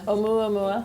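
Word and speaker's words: ʻOumuamua: Anybody know how to pronounce it? Oumuamua.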